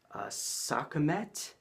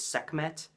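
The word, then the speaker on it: Sekhmet: gonna butcher this too sokka met if I'm saying that right I'm probably not but it is spelled have to look at my notes se KH m ET maybe the H is silent its segment I don't know but segment was an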